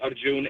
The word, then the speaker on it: Arjun: My name is Arjun. A R Jun. Oh, Arjun. Arjun. That's easy. A R Jun N. Is that right? Okay. Arjun.